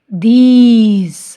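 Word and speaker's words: these: Example दीज। अब देखो ई silent है पर इसने पहले वाली वाउल की साउंड को लॉन्ग बना दिया।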